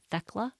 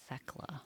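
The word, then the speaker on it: Thecla: It's spelled T H E C L A Theckla. It's probably Theckla.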